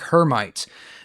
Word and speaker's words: Hermite: And that is called the cubic hermite. Now that is mispronounced. Hermite. Her mi t is uh French probably off of a French um mathematician.